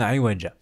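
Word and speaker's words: عوجا: Le Iwaja, le alif que vous voyez à la fin, c'est un alif orthographique. Pour le tanwin, donc on ne le prononce pas. Donc ça nous donne Iwaja. Lecture.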